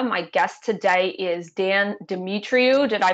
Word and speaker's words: Demetriou: name is Leah my guest today is Dan dimitriu did I pronounce it right sure demetriou Dimitri okay okay and um Dan why don't